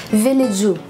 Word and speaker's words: Village: Pero alam nyo guys, sa Korea, ang pagsabi sa kanya or yung pag-pronounce sa kanya is Villageu. 11 Villageu, parang ganun.